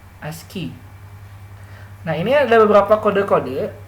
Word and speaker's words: ASCII: Ya, pronunciasinya ASCII ya, ASCII.